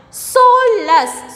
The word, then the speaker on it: soulless: Yes, next one, soulless. Soulless also we are pronouncing double.